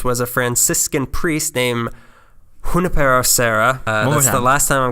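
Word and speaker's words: Junípero Serra: running the missions was a Franciscan priest named Junipero Serra was the last time I'm gonna pronounce it correctly as all the priests did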